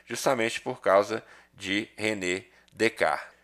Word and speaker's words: Descartes: por causa de Renê dec perceba que é o nome que tá escrito aqui Descartes na pronúncia é diferente tá bom então vamos